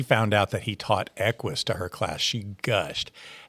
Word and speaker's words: Equus: And I got it wrong because they pronounced it wrong. All of them called it Akus. So I didn't know any different. So I just called it Aus.